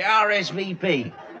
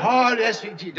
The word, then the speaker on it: RSVP: A Rizvupter. Well, you pronounce it RSVP. Oh, RSVP. Oh, just a minute.